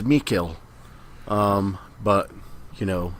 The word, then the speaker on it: Mikkel: the English voice actors was different so Josh and I have a hard time yeah they stress it as me kill but you know it's